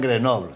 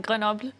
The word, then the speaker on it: Grenoble: el tercero fue en Grenoble, Francia. Y fuimos la selección... La selección se ríe un poco, no se pronuncia así, ¿eh? A ver, ¿cómo se pronuncia? No, a ver, Grenoble. ¿Grenoble? Bueno, vale.